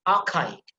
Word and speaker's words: archaic: For example, archaic, ka sound is emphasized.